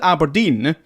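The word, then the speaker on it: abrdn: me aberdeen aberdeen aberdeen so aberdeen you've to pronounce it aberdeen but the vowels are gone the vowels are gone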